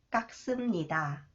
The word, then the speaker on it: 깎습니다: it is pronounced okay, when 시옷 follows the final consonant 쌍기역, it is pronounced 그, 깍. It is pronounced 스, 깎습니다.